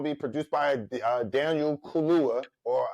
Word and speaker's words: Kaluuya: Yes, and it's going to be produced by Daniel Kaluuya, or how you say his name?